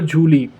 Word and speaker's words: Zhuli: तभी यहाँ पर एक और एल्डर आता है जिसका नाम होता है जूली। अब वो जूली लड़की ऐसा नाम लग रहा है लेकिन उसकी स्पेलिंग होती है कि ZHULI, ओके, जूली नाम होता है उसका।